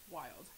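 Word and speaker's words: Wyld: that's okay the wild oh that's how you pronounce it i'm a musician and i studied phonetics but i still had issues w-y-l-d wild that makes complete sense okay french pink clay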